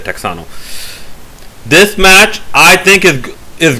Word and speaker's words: Texano: Yeah, they actually spell it Texano, because that's how my Zoom Text app reader pronounces it. They don't say Tejano, they say Texano.